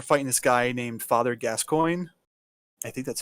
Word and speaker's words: Gascoigne: I guess one of the iconic boss battles from this game is that you're fighting this guy named Father Gascoigne.